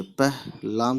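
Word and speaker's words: پہلی: पे ज़बर प और छोटी है पह, लाम छोटी है ली, पहली।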